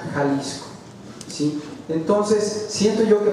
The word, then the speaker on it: Jalisco: Jalisco, en el término original se escribe X, Jalisco, pero se pronuncia Jalisco, ¿sí?